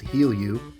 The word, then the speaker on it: Gilu: in your local pharmacy gilu or pronounced heal you is the latest co2